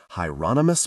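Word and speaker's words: Hieronymus: Hyonomous Bosch rhymes with anonymous.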